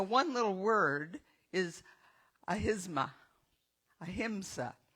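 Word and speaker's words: ahimsa: A himsa. Got to say it right.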